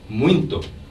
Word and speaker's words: muito: Now, listen to how the Brazilian sister says muito. Muito. Wait a minute. She's not pronouncing the final O as O. I'm hearing a oo sound.